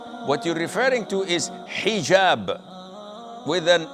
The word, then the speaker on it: hijab: otel or Alo but this is an Arabic word so we Muslims we have to say hijab secondly it is permissible